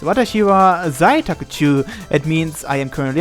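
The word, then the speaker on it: 私は在宅中: It's pronounced Watashi wa zaitakuchu.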